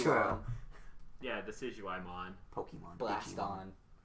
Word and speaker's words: Decidueye: Someone pronounced Decidueye Decadui. What's Decidueye? That's an owl. Yeah, true. Oh, is it the owl with the bow? Yeah. Yes. Yeah, okay. It's pronounced Decidueye because Deciduous and Deadeye.